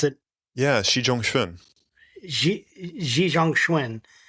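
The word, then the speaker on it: Xi Zhongxun: Um so I can know how to pronounce it. Yeah. Xi Janguini Xi Jang Schwin.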